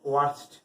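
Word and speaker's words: worst: উচ্চারণটা অনেকে ভুল করে ওর্স বলে আর ওর্স্ট বলে, এটা সঠিক উচ্চারণ নয়। সঠিক উচ্চারণ হচ্ছে ওয়ার্স আর হচ্ছে ওয়ার্স্ট। অর্থাৎ আমরা তাহলে শিখলাম ওয়ান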